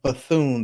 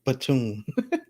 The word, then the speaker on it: Bethune: i didn't see what you were saying bethune okay bethune that does sound better i always say platoon thinking it's supposed to be silent so rochelle says yes